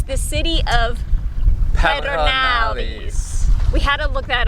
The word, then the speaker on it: Pedernales: It's the city of Pedernales. We had to look that up because we don't know. Beau says you have to roll your R's, but he can't roll his R's. Pedernales.